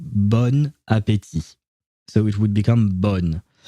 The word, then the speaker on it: bon appétit: You're supposed to pronounce the first word bon, but since the first letter of the next word, which is a vowel, is an A, you have to create some kind of a link between the two words when you're pronouncing them, and it turns into bon appétit.